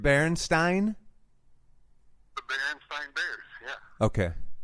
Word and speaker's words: Berenstain: Berenstain. Berenstain? The Berenstain Bears, yeah. Okay, with the ein.